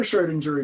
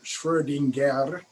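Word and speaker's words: Schrödinger: you all for answering so back to the schrodinger equation um you'll see his name spelled with the umlaut oh with the two dots online which are pronounced schwerdinger but uh very often in textbooks in the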